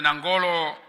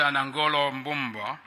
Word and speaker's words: Nangolo: Lesotho your Excellency Dr nangolo Bomba that's not how you pronounce his name that's not right you pronounce his name his name's uh Dr anangolo he's the vice president